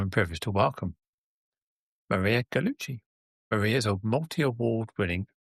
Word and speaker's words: Gallucci: of your name is people see the C's and they pronounce it kind of an American way, but not in the Italian way. So Gallucci, so ch is the C.